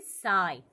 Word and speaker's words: psi: This sign is called as दी P silent is called as दी साई. क्या बोलेंगे हम इसको बोलते वक्त क्या बोलेंगे, लिखते वक्त पसी जैसा पी एस आई लिखेंगे बट बोलते वक्त इसको क्या बोलेंगे ओनली साई.